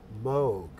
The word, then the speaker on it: Moog: opportunity for you to tell me the correct pronunciation of M O OG you're good friends with the man Moog so it's Moog Bob Moog all right so some people say